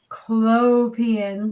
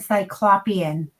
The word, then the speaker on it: Cyclopean: So I want to just say that the name Cyclopean is Cyclopean. We had actually Chris put a comment in a radio talk show for sports in our area, and you know how they pronounce Cyclopean? They said Cyclopean.